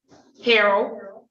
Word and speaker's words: Harrell: Is it Harrell? Yeah. Harrell. Ms. Robs says your name wrong. I want to make sure I'm saying it right. How you say it? Harold.